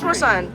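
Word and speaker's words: croissant: American ano iyung crousan. Kaso you almost never pronounce the last letter. Tingan mo try mo. Walang walang n.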